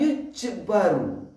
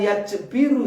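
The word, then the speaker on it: يُجْبَرُ: Kita tahu bahwa sunnah abad kalau ketinggalan yujbaru. Apa sih yujbaru? Bukan yajbiru ya. Ini kadang kita kalau bacanya salah nanti maknanya juga salah. Di sini yujbaru, ditambal. Kalau yajbiru, menambal.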